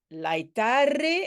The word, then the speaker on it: laetare: Ben, laetare, hein, on le prononce de façon... on va dire de façon latine.